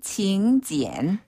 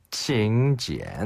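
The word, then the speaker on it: 请柬: 중국어로는 징 지엔 징 지엔 한 번 더 칭 지엔 칭 지엔 그런데요 요즘에는 우리나라처럼 그 모바일 청첩장을 많이 보내는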